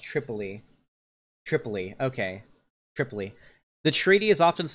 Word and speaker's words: Tripoli: It's pronounced Tripoli.